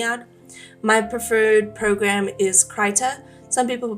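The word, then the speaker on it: Krita: My preferred program is Ker. Some people pronounce it critter. Those people are wrong. It's Creta.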